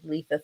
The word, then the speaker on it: Letha: without the L um that's how I have to get people to be able to pronounce my name correctly so lethal without the L um I can you